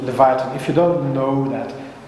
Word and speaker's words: Leviathan: Is that pronounced correctly? Leviathan, yeah.